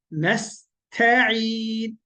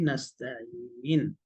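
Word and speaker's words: نستعين: আইন, নাস্তাইন, আইন এইভাবে গলাতে বলবেন আর গলাটা চিপ দিবেন, তাহলে ইনশাআল্লাহ আইনের উচ্চারণটা হয়ে যাবে বিইذنিল্লাহ। আচ্ছা, আর কি? নাস্তাইন, তারপরে হচ্ছে ইহদিনাস সিরাত, মনে তাহলে কি হলো?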